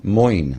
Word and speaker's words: Moin: how do you say your last name? Moin. Moyne. Yes.